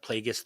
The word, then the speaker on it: Plagueis: would be really cool if we're gonna say it we're going to say it right it's Darth Plagueis the Wise that's true